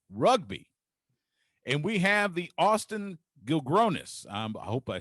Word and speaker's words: Austin Gilgronis: Austin Gilgronis is how you pronounce it.